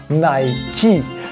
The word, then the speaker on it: Nike: Die Antwort lautet, sie heißt Nike. Das heißt, das E, im Englischen hier ein I ausgesprochen, wird am Schluss tatsächlich ausgesprochen. Ich weiß, im Englischen werden E's am Ende oft nicht ausgesprochen, ist hier aber nicht so, weil dieses Wort kommt aus dem Altgriechischen.